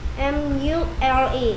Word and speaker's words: mule: 알파벳 MULE. MULE 뭐에서 내는 소리? Mule. 그렇죠. Mule 발음도 아주 좋네요. M은 U는 U. L은 R. 이렇게 E 소리 안 나고 합쳐서 Mule.